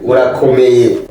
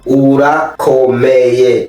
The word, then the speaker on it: Urakomeye: Is it ora or ola? Ura. You gotta roll your R. Say it one more time. Urakomeye. Ora. Ooh. Ura. Yeah. Ula. No, not la. You gotta. There's like a thick R or deep.